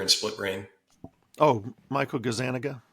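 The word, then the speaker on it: Gazzaniga: Oh, Michael Gazanaga. Gazanaga.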